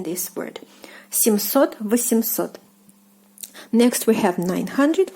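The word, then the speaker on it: семьсот: are pronouncing this word, the m is not softened by the soft sign when you are pronouncing it, but it has to be written to make this word correct.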